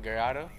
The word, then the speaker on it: Gallardo: Gallardo? Gallardo?